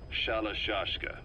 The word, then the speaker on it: Shalashaska: The guerrillas were using the name amongst themselves, and by the time I got to hearing about it, the pronunciation had wound up as Shalashashka.